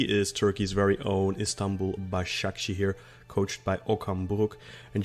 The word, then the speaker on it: Başakşehir: So apologies if I've murdered the pronunciation of that there. No, that's fine. Başakşehir, but it was fine.